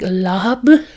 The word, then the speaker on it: larb: And lob can be pronounced a couple of different ways. If I'm understanding it correctly, in the actual Thai language, it's pronounced with like an HBP sound, so it's more of like lahab, lahab, lahab.